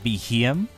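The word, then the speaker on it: Beheeyem: I think that's how you pronounce it, Behem. It's kind of like a, it's kind of referencing BEM, which is like Bug-Eyed Monster.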